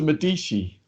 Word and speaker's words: Medici: Uhtred, son of Uhtred, and now I've moved on to Medici. That's how it's pronounced.